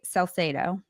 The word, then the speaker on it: Salcedo: to introduce to you the incredibly talented celo did I pronounce that right yes you did oh